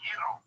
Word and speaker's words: gyro: So, And it's pronounced Euro.